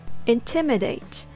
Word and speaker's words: intimidate: four syllables intimate with the stress on the second syllable Tim the third syllable is